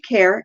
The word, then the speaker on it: Cahir: Now, Kerr, the village of Kerr, it's spelled Cahir, and it's actually just about 30 minutes south of the Rock of Cashel.